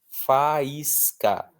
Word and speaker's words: faísca: Vamos analisar a separação silábica. Fa, is, ca. Nós tivemos aí um I que formou hiato com o A, né? Fai, formou um hiato. O I está sozinho na sílaba, seguido de S, que é a mesma coisa que nada, e ele é a parte mais forte da palavra. Faísca, faísca. Então eu preciso acentuar.